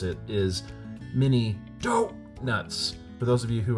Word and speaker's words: Mini Doh!nuts: just so we're clear the correct way to pronounce it is mini dop nuts for those of you who are huge Simpson